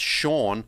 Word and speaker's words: Chone: to pronounce his name i think it is pronounced shawn figgins but it's spelt choned cho yeah yeah he was